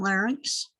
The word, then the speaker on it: larynx: those words i i i think of sphinx when i say it and add that with it and then i say then i say it right pharynx and larynx the trachea the bronchi